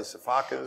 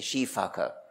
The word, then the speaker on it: sifaka: They are, the eye and all of the Sifakas. Somebody told me the correct pronunciation of Sifaka is actually Shifaka.